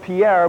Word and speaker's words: Pierre: very heavy thunderstorm storms Pier South Dakota spelled Pierre but pronounced Pier had the 80 mile